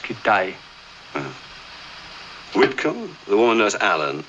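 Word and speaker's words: Kitaj: There's Hedgepath, Kittage. No, it's pronounced Kitay.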